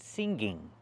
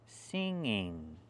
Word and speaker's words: singing: We don't pronounce the word singing. There's no g in the middle. It's pronounced singing. There's no hard guh sound. It's in your nose.